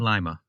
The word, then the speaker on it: Lima: So it's Lima, Ohio, but lima beans. Yes. All spelled the same way.